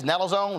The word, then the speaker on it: naloxone: overdose prevention through the distribution of, I guess, naloxone, is that how it's pronounced?